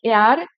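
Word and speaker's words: heir: দেয়ার ওয়াজ নো এয়ার, এটা কিন্তু হেয়ার নয়, এটার প্রোনাউন্সিয়েশনটা কি হবে? এয়ার। দেয়ার ওয়াজ নো এয়ার dash the thrown, to the thrown.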